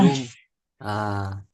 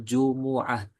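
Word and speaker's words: جمعة: Jum. Ah. Kemudian Yaumus Sabti. Yaumus Sabti. Ya, kemudian sebagai faedah, Yaumul Jum'ah itu salah pengucapannya. Yang benar itu Yaumul Jumu'ah. Yaumul Jumu'ah. Mimnya itu di dhammah.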